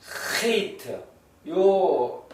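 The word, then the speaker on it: חית: 알 ale트 dal 해 또는 와우 와우 자연트 헤이트요 헤이는 이제 독일의 의 CH 발음으로서 목구멍 깊은 곳에서 이렇게 나오는 소리입니다.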